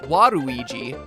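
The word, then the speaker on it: ワルイージ: of warui and luigi waluigi's name works even better in japan where his name is pronounced waruiji this wadui concept was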